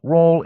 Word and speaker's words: Raul: myself my name is Raul my first name rhyming with tall which I am and